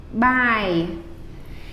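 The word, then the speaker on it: បាយ: would say y by so the word rice is by it's a little bit different than this one see this is I this is actually almost like our English letter I IAM by by it sounds a lot like by bye bye and they make a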